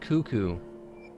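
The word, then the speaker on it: Cucco: pop goes 2-5 because direwolf is two-five it's pronounced cuckoo pretty turret's coco why are you spelling cuckoo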